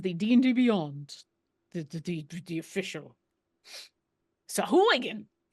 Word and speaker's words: Sahuagin: But as far as the D&D Beyond, the official Sahuagin. The only way I remember how to say it is by saying Sheboygan first.